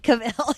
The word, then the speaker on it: Cavill: Cavill, yeah.